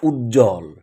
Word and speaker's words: উজ্জ্বল: কাজেই এই ব এর কোন উচ্চারণ হবে না।